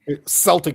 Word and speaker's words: Celtic: Celtic, they pronounce it Celtic.